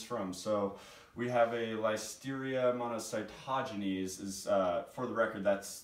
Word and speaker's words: Listeria monocytogenes: where it comes from so we have a life Styria amount of sigh taja knees is for the record that's the correct pronunciation I know some people have been saying